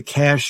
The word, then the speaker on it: Cache: am I'm with the cash agency it's spelled c-a-c-h-e so it looks like cachet but it's pronounced cash agency the people that